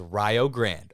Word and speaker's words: Rio Grande: And you're going to say, oh, Kobe, it's the Rio Grande. Everyone I've seen says Rio Grande. All right, so don't come after me. That's the way they pronounce it.